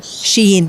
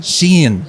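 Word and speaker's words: Shein: Uh it's Wait, now first of all, what is the correct pronunciation? Is it Sheen Shen? Sheen. Sheen.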